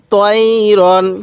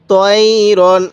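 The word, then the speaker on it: طَيْرًا: আলিফ দুই জবর রন তাইরন কিভাবে পড়বো তাইরন কেউ তাই জবর তাই পড়বেন না তাইরন এরকম ভাবে শিখবো এরপরে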